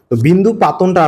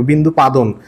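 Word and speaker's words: বিন্দুপাতন: বিন্দু পাতনটা আসলে কি? বিন্দু পাদন। অনেকে কিন্তু তোমরা উচ্চারণ কর বিন্দু পাদন। আসলে বিন্দু পাদন না ভাই। বিন্দু পাতন।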